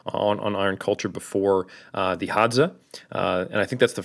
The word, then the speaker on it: Hadza: So you've probably heard us talk about on Iron Culture before the Hadza, and I think that's the first time on Iron Culture I've correctly pronounced and not dyslexified the D and the Z.